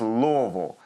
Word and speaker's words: Louisville: You just do it fast, So I know you guys know about pronouncing tough names, but it's just Louisville. And if you say it quick, nobody knows the difference.